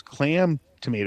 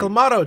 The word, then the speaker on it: Clamato: I almost Why you Why did you say clam? Like clam tomato like tomato. Does clams make tomato juice? No, but that that's what clamado is. It's clam juice and tomato juice mix. Is it really? That's why it's called clamato. Clam and tomato.